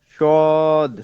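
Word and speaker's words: صاد: শিন হ্যাঁ শিন শিন সদ সদ হবে হচ্ছে সিন থেকে সদ হবে সিন থেকে সদ একই উচ্চারণ হবে খালি জাস্ট মোটা হবে সদ মানে আপনার ওই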